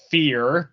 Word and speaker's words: PH34R: Her name is Fear, but the E is but it's spelled PH34R.